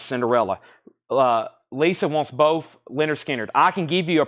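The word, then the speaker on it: Lynyrd Skynyrd: sounded ones ever is this one right here pronounced Leonard skinnard once again this is cut this is about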